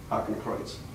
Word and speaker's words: Hakenkreuz: How do you pronounce it? The Hakenkreuz? Hakenkreuz.